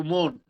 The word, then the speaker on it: মন: ওজনের মন আর হৃদয়ের মন একই উচ্চারণ, ওকারন্ত হবে।